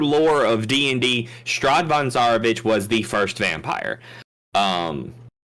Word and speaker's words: Zarovich: Is my pronouncing that right? Sure, Zarovich, whatever. Zarovich, Strahd von Zarovich.